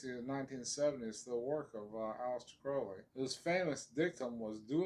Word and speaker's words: Crowley: i always say when crowley's name comes up remember kids crowley rhymes with holy oh yeah there you